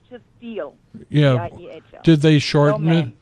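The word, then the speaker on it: Diehl: Deal. Hmm? Deal. And when people didn't know how to say it, I said, think of a good deal. And they never forgot my name. Eel. But it's D-I-E-H-L. Deal.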